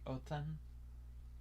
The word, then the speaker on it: Odin: So like you see Othen. Some people say Othen, some people say Odin, but it's like Othen when you say it.